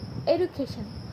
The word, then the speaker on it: education: Educate to education. From educate to education. Education. IPA educate to education. The suffix Asian, orthographically Asian, phonetically Asian is stress attracting, typically falls on the syllable immediately preceding the suffix.